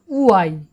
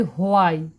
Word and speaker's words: why: তারপরে রয়েছে WHY, উচ্চারণটা হবে উআই। আমরা কিন্তু একে প্রায় বলে থাকি হওয়াই, হয়কার আ হর্ষই, আমরা বলি হোয়াই, কিন্তু হোয়াই নয়, উচ্চারণটা হবে উআই।